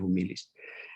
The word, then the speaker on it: humilis: Tulisannya sama dengan cara membacanya humilis.